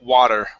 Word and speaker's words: water: water whoa okay so we want to say an ah sound okay water water water just like that okay um all right